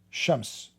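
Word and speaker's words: شمس: Like in the Aramaic, sometimes the letter S pronounced as sheen, sometimes as seen. So Shams, the same word, Shams, which means sun, Shams.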